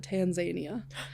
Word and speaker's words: Tanzania: I learned is that we are pronouncing it wrong. The locals pronounce it Tanzania.